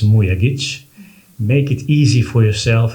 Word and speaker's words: Mujagic: But first things first um the only correct way to pronounce my last name is Muya.